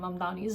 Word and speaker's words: Mamdani: I think mispronouncing Zoran Mdani's name. And so Mani was basically like the name is Mdani. You should learn how to say it.